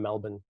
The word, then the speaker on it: Melbourne: And I said, no, it's like Burn, but it's actually more like bun. So I said from Melbourne.